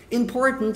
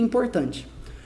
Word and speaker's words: important: Você consegue falar essa frase sem esse R. Important. Na pronúncia mais britânica.